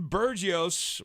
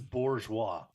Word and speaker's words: Bourgeois: the way uh Preston burgios wants to know I feel like you were butchered it's a Bourgeois Bourgeois listen if it looks French ask the candidate okay all